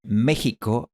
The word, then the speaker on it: México: Así que estas 3 palabras dejaron de pronunciarse Mexico, chabón y tijeras y empezaron a pronunciarse México, jabón y tijeras.